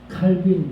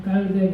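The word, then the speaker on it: Calvin: 칼빈, 그러면 이게 영어식 발음인데, 사실은 그 프랑스식 발음은 깔뱅 그러죠.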